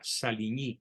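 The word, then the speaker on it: Saligny: el tratado sarco salini se escribe saligni se pronuncia salini en francés y los certifica Francisco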